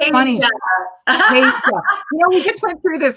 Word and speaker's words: Tasia: Tasia.